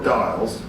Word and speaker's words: Doyle: And Renee knows the Doyles from Petty Harbour, or Dials, as it would be pronounced in Petty Harbour, were the minstrels of the town, right?